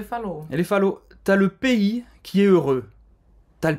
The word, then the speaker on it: pays: Le pays, você não vai pronunciar o S no final. Le pays. Hein? Tem o som do E aberto, EI. Fechado, na verdade, né?